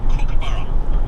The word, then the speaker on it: Kookaburra: And boy, it's called Kookaburra, not Cook.